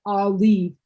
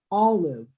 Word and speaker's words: olive: No, not not Ali. It's all and then live. Olive.